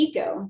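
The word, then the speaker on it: eKO: then i have the eco this is a new one it's it's pronounced eco but it's spelled e k o um and i like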